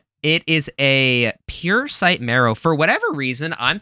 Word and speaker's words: Puresight: The card name is Puresight Marrow. Puresight Marrow. Parasite?